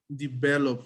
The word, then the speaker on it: developed: developed or developed okay what is the last sound in develop is d develop right the last sound is the p so the the instructions say that when the word ends with a p the sound has to be at so he developed develop not develop it okay it's a t sound developed the first uh